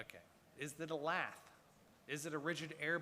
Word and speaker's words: lath: Okay, lath rhymes with math.